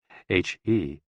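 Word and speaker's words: 呵: He, pronounced like her, with a yawn, which is associated with the heart.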